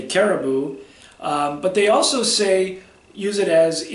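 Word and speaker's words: karibu: The third word is you're welcome, and it's caribou. It's like the animal, caribou. Pronounced the same way, spelled differently.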